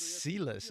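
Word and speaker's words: Sylas: Oh, it's Silas is how you pronounce it.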